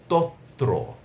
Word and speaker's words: তত্র: তত্র তারপরে আছে আপনার প্রাপ্ত।